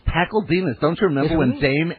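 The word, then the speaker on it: Pakledinaz: Martin Pakledingas, probably mispronouncing that, the Pajama Game. And it's Pakledingas.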